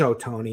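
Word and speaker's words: Ohtani: has it right actually no and it is oh Tony and everyone else is wrong and he it's from the it's the true Japanese pronunciation of the Americanized version so it is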